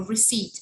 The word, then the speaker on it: receipt: recipe it's a recipe uh-huh there's recipe a receipt sorry it's not a recipe it's a receipt